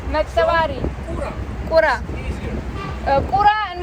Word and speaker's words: Mtkvari: river is called the Mtkvari, but Uh-huh. for foreigners it's hard to pronounce. Mtkvari.